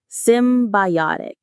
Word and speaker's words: symbiotic: Symbiotic. The stress lands on that third syllable.